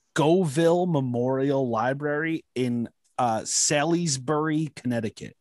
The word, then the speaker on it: Salisbury: memorial library in uh sallysbury connecticut i might have butchered that name silas berry s s-a-l-i-s-b-u-r-y south salisbury like salisbury steak i don't know maybe